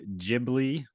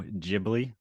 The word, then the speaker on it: Ghibli: got yeah uh Studio Ghibli I'm pretty sure it's pronounced that way Studio Ghibli g-h-i-b-l-i yeah they are